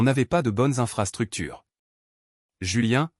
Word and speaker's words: Julien: pas de bonnes infrastructures Julien prononcé julienne est elle née le